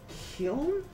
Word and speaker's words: kiln: Kiln? What does that mean? Hold on a second. Kiln. Okay. Kiln. Originally pronounced kill with the N silent, however, vocalizing the L has become popular.